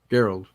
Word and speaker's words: Gerald: Gerald. Back my dad is Gerald. The hard G. Yeah, it wasn't until the 20th century when they changed that to a soft G.